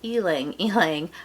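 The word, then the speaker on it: ylang-ylang: I guess hold on it's really eeling healing I never pronounced that correctly but ylang ylang Jasmine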